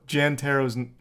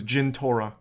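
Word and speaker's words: Jentorra: __ ] clue also Jan tarot's that name didn't even come up you got that name wrong it was Gin Torah yep that was the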